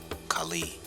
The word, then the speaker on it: Khali: Pronounce it Khali.